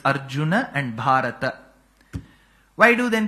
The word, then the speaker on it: Arjuna: the last letter by cutting half of its pronunciation it's not Arjun it's Arjun that akaram has to be there it is not the other way of making it Arjuna that aaram is not needed but it's Arjuna and bhata why do then people say bhat